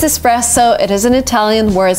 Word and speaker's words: espresso: And the second word is espresso, and yes, you're tempted to say espresso because of express and stuff, but no, it is espresso.